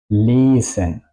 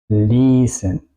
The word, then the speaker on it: lesen: Y el opósito sería lesen. Lesen. Yo no digo lesen, yo digo lesen. La I suena muy larga.